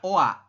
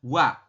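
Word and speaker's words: 와: Tetapi dalam bahasa Korea, mereka penyebutannya adalah wa. Ya, jadi kalau Anda menemukan vokal O ditambah dengan vokal A seperti ini, vokal rangkap, ya, bunyinya adalah wa. Bukan OA, tapi dibacanya adalah wa.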